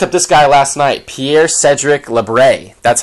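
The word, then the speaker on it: Pierre-Cédric Labrie: um I looked up this guy last night Pierre Cedric lebre that's how you say it um younger guy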